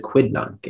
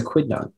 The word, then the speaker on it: quidnunc: or petty things a busybody sandra is a quidnunc and very inquisitive about her neighbors and that's the only pronunciation can i please you have all the